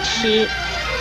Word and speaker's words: 吃: 吃的国语注音是吃一声吃，吃一声吃。